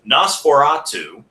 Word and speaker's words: NOS4A2: His novel, NOS4A2, or as it's actually supposed to be pronounced, Nosferatu.